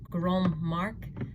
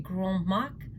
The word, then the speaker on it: Grand Marque: So they are actually one of the original Grand Marque. That's a terrible pronunciation. I think it's French, so it's going to be Grand Marque.